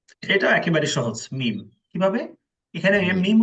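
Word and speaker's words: م: না দাঁতও লাগবে না জাস্ট দুই ঠোঁটে যে শুকনো স্থান আছে এই স্থানকে একত্র করে উচ্চারণ করবেন বাংলায় যে ম আছে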